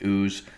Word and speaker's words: Uz: So Hus can sometimes be pronounced Uz.